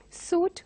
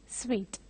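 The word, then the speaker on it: suite: and pronounce it as soot or something like that but this has to be pronounced as sweet we have some words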